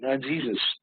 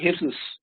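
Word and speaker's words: Jesús: this okay uh but it's not pronounced uh Jesus Jose hisus this is okay so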